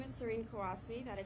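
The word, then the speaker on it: Qawasmi: student who was arrested my name is Serene kasasi that is spelled s r n q a w SMI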